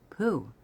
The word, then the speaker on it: Pooh: Pooh, by the way, is pronounced sort of like poo, but without so much ooh, like the sound you make when blowing a bug off your arm on a hot summer day.